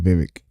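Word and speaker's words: Vivek: name correctly now because he said it's like cake so you said Vivic Vivic riab went on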